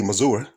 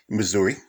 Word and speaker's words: Missouri: I mean, he was born originally in Kansas City, Missouri. That's how they say it out there. They say Missouri, not Missouri.